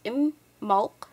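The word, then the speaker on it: Imbolc: um is an Irish gelic word which is pronounced IM Mal other variations of this festival's name include the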